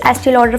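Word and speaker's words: Estée Lauder: First I have this एस्टी लॉडर foundation, कुछ लोग इसको स्टील ऑर्डर भी प्रोनाउंस करते हैं।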